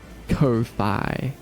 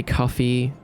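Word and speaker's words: Ko-fi: Kofi. Some people say coffee kofi, but I like to pronounce it like loi or wifi because it's got a dash in the middle.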